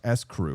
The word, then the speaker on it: St. Croix: The California winery E. St. Croix, pronounced S. Crew, went from a $50,000 valuation to $5 million overnight.